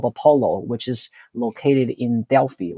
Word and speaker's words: Delphi: which is located in Delphi, or Delphi, according to Greek people. That's how they pronounce it.